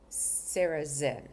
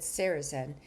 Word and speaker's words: Sarrazin: and spoke to Algonquin leaders, including Chief Greg Sarrazin, and that's S A R A Z I N.